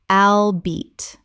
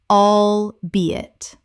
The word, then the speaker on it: albeit: Common mispronunciation. Albeat. Correct pronunciation. Albeit. Three syllables with the stress on the second.